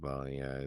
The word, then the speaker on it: bolognese: It's pronounced bolognese. That's crazy. Okay, it makes sense. It's like a meat. The E is like an A.